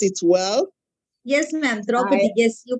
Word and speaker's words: Draupadi: I want to congratulate the Drupadi Mumu. Yes, I hope I pronounced it well. Yes, ma'am. Draupadi, yes, you pronounce it so well.